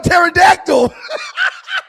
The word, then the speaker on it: pterodactyl: Listen, I knew you would get it wrong because you don't know how to SPELL PTERODACTYL. The P IS SILENT.